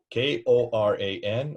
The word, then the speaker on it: Quran: Koran or Qur''an? Are not both correct? Mm-hmm. Exactly. So this is a non-argument whether it's K or Q. It's linguistically how you hear it, how you sound, how you say it.